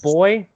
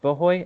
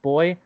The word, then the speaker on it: Bhoy: It's boy. It's pronounced boy. It's not pronounced bohoy. It's pronounced boy.